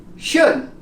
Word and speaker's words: should: When we have it like this, we don't pronounce it. Could. Could. Talk. Half. Calf. Should.